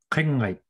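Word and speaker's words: Kinngait: From Kimmerut, we head a little bit further to the east into Kinggate, and here's Jason to properly pronounce it. Pretty close. Kinggate, and Kinggate quite simply translates to mountains.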